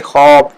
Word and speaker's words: خواب: خواب، خواب نہیں ہے یہ خواب، واو الف والا جو الف کے درمیان میں وہ نہیں، خواب، الف واو کو نہیں بولا جائے گا، اس سے جسے واو معدولہ بھی کہتے ہیں، اس کا تلفظ نہیں کیا جاتا۔ خوش، اور اردو